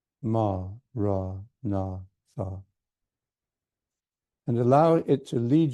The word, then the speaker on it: Maranatha: And if you choose this word, say it as 4 equal syllables. Ma, ra, na, tha. Form the word clearly in your mind, in your heart, as you say it.